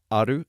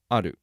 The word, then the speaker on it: ある: there are two different words for it there's aru and edu just to cut to the chase